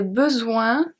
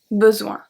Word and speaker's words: besoin: Chaque plante, we saw that, the E is silent, a des besoins. A des besoins. So here we jump to besoin where the S is silent.